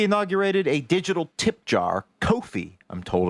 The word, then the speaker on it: Ko-fi: Last week, we inaugurated a digital tip jar, Ko-fi, I'm told it's pronounced, which we put in the episode's description.